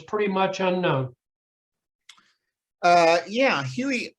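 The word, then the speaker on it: Huger: right now what is your assessment of general yuger who is pretty much unknown uh yeah huey it's actually pronounced huey okay pardon me which i've made that same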